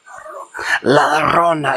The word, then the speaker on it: La Llorona: La Llorona. You have to say it like in hushed, whispered tones.